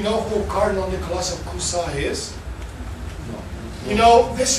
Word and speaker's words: Cusa: Nicholas of Cusa, C-U-S-A, Cusa. It's pronounced Cusa.